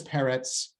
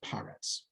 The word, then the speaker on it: Peretz: I just want to point this out, that his name is Peretz, but sometimes it's pronounced Paretz.